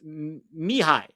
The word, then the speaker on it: Mihai: It's pronounced Mihai.